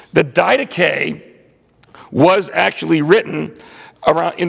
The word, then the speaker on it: Didache: Well, the first book I'm going to talk about is the Didache. That's how you pronounce that, Didache.